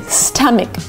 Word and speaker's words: stomach: correct to say stomach it's not ah like father it's not an a it's a short sound uh like cup and up and cut sta stomach stomach for the stress on the first syllable stomach stomach a closed